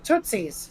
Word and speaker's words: Tootsies: How you pronounce that damn? Tootsies.